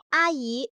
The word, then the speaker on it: 阿姨: 「老班」中的「班」和「阿姨」中的「伊」都是中性音。